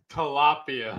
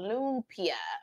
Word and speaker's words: lumpia: they lost her at tilapia yes Renee hates tilapia oh I said it wrong okay Charlotte said say lupiah Moon Pia is how you say it lumpia okay thank you Shawna